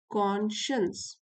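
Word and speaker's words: conscience: ये जो है कॉन, और फिर स्पेलिंग होगी इसकी साइंस की जो स्पेलिंग होती है, लेकिन इसको बोलते हैं कॉन्शियंस।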